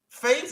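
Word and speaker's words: Faes: caught life today bro faith is how we say his name face was the man of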